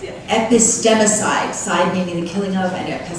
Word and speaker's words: epistemicide: The epistemicide, did I pronounce that right? Yeah. Epistemicide, side meaning the killing of, and epistemology meaning words.